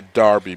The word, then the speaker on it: derby: And I say derby because I was reminded overnight that it's spelled D-E-R-B-Y. It's pronounced D-A-R-B-Y apparently.